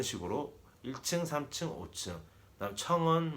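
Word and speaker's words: 层: 그다음 청은 뭐 우리 그 층 있잖아요. 층을 중국 발음으로 청이라고 생각하시면 될 것 같아요.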